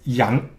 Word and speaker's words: 羊: Okay, and it pronounced as yang.